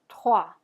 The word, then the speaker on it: trois: All right, so our next example is the word trois. Trois. All right, so let's go ahead and try that. Fingers on your throat to make sure you're pronouncing that guttural R.